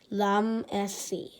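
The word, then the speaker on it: Ramses: You say it like this, Lamesi.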